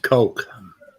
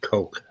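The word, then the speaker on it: Koch: It's pronounced Coke. C-O-S-H or C-O-C-H, Coke.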